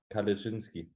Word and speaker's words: Kalecinski: So did I pronounce the first and second name wrong? Kalecinski.